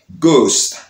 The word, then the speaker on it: ghost: H, parfois, mais surtout, lorsque nous commençons un mot, eh bien, H là fait silence. H là pas prononcé. Exemple, nous gagnons ghost.